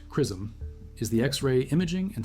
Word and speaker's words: XRISM: XRISM pronounced CRISM is the X-ray imaging and spectroscopy mission led by the Japan Aerospace Exploration Agency in partnership with NASA and ESA.